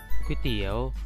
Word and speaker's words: ก๋วยเตี๋ยว: เสนอ คำ ว่า ก๋วยเตี๋ยว อ่าน ว่า ก๋วยเตี๋ยว เป็น คำ ที่ ยืม